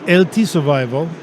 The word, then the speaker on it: LT Survival: Donc, juste pour faire un petit historique, là, pourquoi les deux lettres qui sont prononcées séparément.